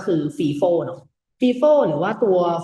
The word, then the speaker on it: FIFO: อา เสียง ว่า ฟ บาง คน ก็ ไฟ เนาะ แต่ ว่า เพื่อ ความ เข้า ใจ ง่าย เนาะ ผม ขอ ออก เสียง ว่า fifo แล้ว กัน นะ ครับ จะ ได้